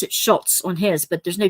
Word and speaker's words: Schulz: They always pronounce it Schultz on his, but there's no T in his name, Schulz.